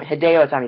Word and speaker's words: Hideo Itami: vaudevillains via pinfall and hideo atami hideo atom hideo tommy that's how you say it i'm sorry hideo tommy